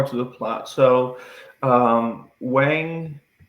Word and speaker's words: Wang: So, um Wang I'm going to butcher. Yeah, the names are tough. Yeah. or I think it's Wong I think is how they pronounce it.